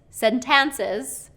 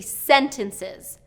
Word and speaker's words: sentences: then there's a word sentences okay sentences sentances is I think how he was pronouncing it and it should be sentences for syllable stress sentences emphasis on the